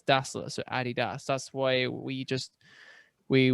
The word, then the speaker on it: adidas: is named after its founder adolf dazzler nickname was adi there you go i guess adi yeah so that's so that for me is why i to this day i still think nope adidas but then how would